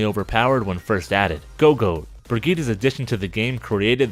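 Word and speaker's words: Brigitte: Go-Goat, Brigitta's addition to the game created the current meta strategy called Goats. Pidgeot, commonly mispronounced as Pidgeot, like Brigitta is mispronounced as Bridget.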